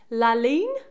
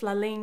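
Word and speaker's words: La Ligne: The brand is, and I think I'm going to pronounce this right, Laligne. It's spelled L-I-G-N-E, La and then Lean.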